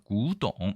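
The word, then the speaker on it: 古董: 대신 발음은 골로 써도 구, 그 다음에 고로 써도 구입니다. 그래서 구동 이렇게 얘기합니다.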